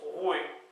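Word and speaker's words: roue: dit rou R et ça se prononce roué voil facile re Dam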